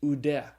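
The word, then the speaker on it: οὐδέ: Omicron upsilon is pronounced oo, like in the word soup. And so the Greek word is pronounced oude.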